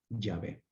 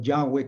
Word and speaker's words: Yahvé: últimos tiempos, de que el tetragramatón se pronunciaba Yahvé. Yahvé o Yahweh, como le llaman ahora los judíos.